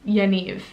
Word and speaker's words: Yaniv: unique the next name i have is yaniv yaniv is really cute it's again kind of like